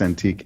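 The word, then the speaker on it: Antic: he's a senator I think his name is antique it's pronounced antique a-n-t-i-c from South Wales Australia yeah he got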